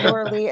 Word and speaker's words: Lorilei: I always tell believe people, just call me Lore, Lor, because it's spelled like Lorelei and it's Lorilei.